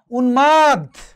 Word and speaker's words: উন্মাদ: মফলা হিরণময় উচ্চারণ হয়েছে, নয়ের সাথে মফলা উন্মাদ উচ্চারণ হয়েছে, ময়ের সাথে মফলা সম্মান উচ্চারণ হয়েছে, লয়ের সাথে মফলা গুল্ম।